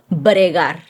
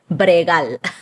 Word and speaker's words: bregar: So that is bregar or bregal.